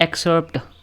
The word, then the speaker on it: excerpt: इसको क्या पढ़ते हैं? एक्सर्ट। देखते हैं, Ctrl+C, इसकी प्रोनाउंसिएशन देखते हैं। Excerpt. एक्सर्प्ट, एक्सर्प्ट ही पढ़ते हैं।